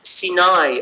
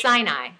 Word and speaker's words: Sinai: It's pronounced differently. What? We pronounce Sinai. Sinai. Yeah, but you're pronouncing just different accent. You're pronouncing the second accent.